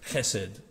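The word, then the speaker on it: חסד: in english is pronounced hesed it's a fairly guttural language and so the the word is pronounced with a ch sound but sometimes it's written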